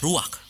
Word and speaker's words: ruach: Kata dalam bahasa Ibrani-nya adalah ruach. Ruak? Ya, benar. Tenggorokan kita harus benar-benar bersih di akhir pengucapan.